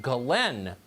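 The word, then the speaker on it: Ghislaine: crimes right now so her name apparently is pronounced glenn okay okay according to one of epstein's victims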